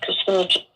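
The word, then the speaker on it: Kucinich: Um, I did participate in a rally protest outside of the uh environmental protection agency years ago with Dennis Cassinich and uh right Dennis you said it right.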